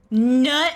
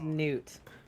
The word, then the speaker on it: newt: Wait, Nut White Bear? It's a newt. White bear. It's pronounced newt.